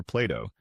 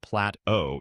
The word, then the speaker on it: Plato: In one instance, I had a student who began discussing the philosopher Plato, except she pronounced his name Plat-O instead of Plato.